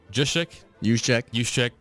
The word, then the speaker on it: Juszczyk: I know you brought up Kyle Juszczyk. It's every ounce of my body wanted to pronounce the J.